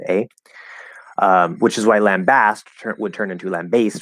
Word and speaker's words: lambast: pick one um but i would use the ah sound in the um it will in both syllables but especially that second syllable okay uh um oh